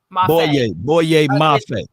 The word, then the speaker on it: Boye Mafe: Mafe? Boye Mafe.